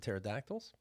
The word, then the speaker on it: pterodactyl: because Pterodactyl, right, yes. because the P is silent.